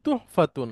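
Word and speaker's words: تُحْفَةٌ: উচ্চারণটা বলেন না না উপহারের উচ্চারণটা হচ্ছে তুহফাতুন হ্যাঁ ফা এর পরে পেশ তারপর একটা হা ফা গোলতা আর এটা হচ্ছে তুফাহুন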